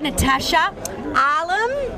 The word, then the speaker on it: Natasha Alam: no we've got natasha arlem yeah did i pronounce it yes natasha allen how easy is